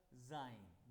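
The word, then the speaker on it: sein: ए का जाइन, देखो ई है ना वावल, जाइन। जी का इया, एस का भी जाइन।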